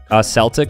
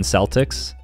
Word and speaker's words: Celtic: Celtic, like the Boston Celtics. Some people say Celtic, I think.